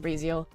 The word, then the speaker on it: Razel: know what I mean razal Rael it's in in French it's Kel but like you know in um in English I will pronounce it razal my type Jamie we're